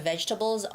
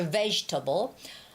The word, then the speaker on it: vegetable: Ve has the stress. That's why it sounds like vegetable, vegetable, getable, getable, getable, okay?